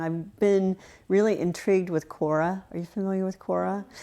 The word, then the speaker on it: Quora: Yes, yeah, yes, Quora, yeah. yes. Am I pronouncing it yeah, right? no, Okay. you're right. I was just seeing the C or the K on there, but yes, right, Quora, right.